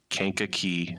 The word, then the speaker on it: Kankakee: So, uh, the way us locals say it is Kanka Key Sands.